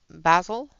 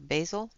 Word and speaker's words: Basil: So I'm using number 93, which is Basil or Basil, depending upon how you say it. If you grew up with Faulty Towers, you say Basil.